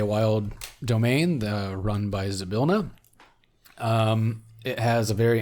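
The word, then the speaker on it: Zybilna: see why I spell it again z-y-b-i-l-n-a it's pronounced zabilna zabilna the Fey what queen the arch [ __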